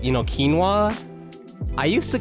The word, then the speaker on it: quinoa: apparently very very common but like you know quinoa I used to call it canoa. That's what I I I used to call that quinoa canoa and I was like yeah canoa that the